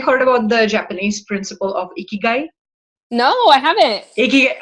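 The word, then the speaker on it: ikigai: and have you heard the Japanese principle of a key guy no I haven't a key so it's a very interesting principle it's spelled as I K i GA I and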